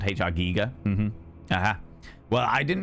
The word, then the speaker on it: Giger: Phonetically? Yeah, it's Germanic. So, it has that E sound. HR giga.